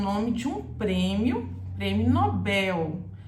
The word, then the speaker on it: Nobel: Nobel e em português você fala Nobel prêmio Nobel assim é o correto vamos imaginar que a